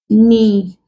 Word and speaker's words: knee: Other examples we have not, knowledge, knee. We have words like night, knock, neat. These words contain the N sound. Why? Because the first letter K before the N is silent.